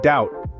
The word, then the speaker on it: doubt: but I land similarly the be in doubt is silent making it sound like doubt these examples only scratch